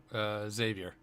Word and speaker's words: Xavier: Is it Xavier or Javier? Xavier.